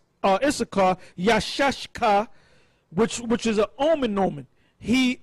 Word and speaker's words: Issachar: Now, the way to pronounce it is not Yashaka, is Yashashka. Yashashka.